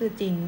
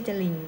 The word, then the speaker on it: จริง: นะ จรวด คือ จรวด จริง ก็ คือ จริง ไม่ ใช่ จะ ลิง นะ เออ คือ เป็น